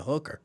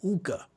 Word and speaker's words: hookah: Every time I see that, I be like, I have to be careful about how I pronounce it because I don't want nobody to think I'm saying hooker. Because then they'd be like, we got hookah bars here. Like, no, hookah.